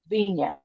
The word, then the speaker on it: Vignes: The next ghost that is said to be in the cemetery is a man by the name of Henry Vignan. And it's a French name. It's spelled Vignes.